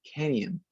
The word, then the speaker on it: canyon: And the pronunciation with an I, canyon, like this, canyon, right?